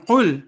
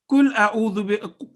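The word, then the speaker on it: قُل: Pronouncing each letter according to the attributes also means that difference between thick and thin letters. For example, kul means eat and qul means say. So imagine reciting kul huwallahu ahad, for example,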